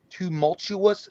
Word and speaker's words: tumultuous: Paige Ulmer says it was quite tumultuous. Jay, yeah, that's what I was saying. I don't. Did I mispronounce it?